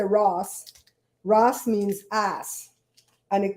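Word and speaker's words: rass: name better everyone because in Belize Ross but it's spelled r-a-s-s when we say Ross Ross means ass and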